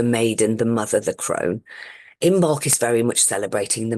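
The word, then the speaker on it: Imbolc: o l c and it's often pronounced imbolg with a like it sounds like a g um if when it's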